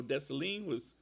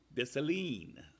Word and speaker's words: Dessalines: couple of representations of Dessalines. Jean-Jacques Dessalines. And it's spelled, of course, in the French way, which is Desssalines, but it's pronounced Dessalines. At least I think I'm getting it pretty close.